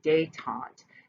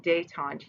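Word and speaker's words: détente: going to lead to date aunt that's that term here with a D and a accent on the e te n te date on it's a French term right but anyway so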